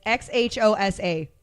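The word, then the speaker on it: Xhosa: do you say the name of their language OSA okay it's xh osa one more time cool awesome okay see there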